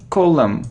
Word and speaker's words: column: it's plumber without diploma it isn't column not column not o : no no we don't pronounce N and M column like here : look